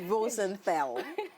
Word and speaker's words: Rosenthal: Properly pronounced. Rosenthal.